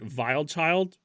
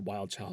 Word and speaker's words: Wild Child: My favorites are definitely probably in the order Keep Moving, Who Said, and Vile Child. It's actually pronounced Wild Child, but whatever. And that's it.